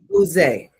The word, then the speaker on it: Ose: Use. Am I pronouncing it correctly? Use. It's O-S-E. Use. Use.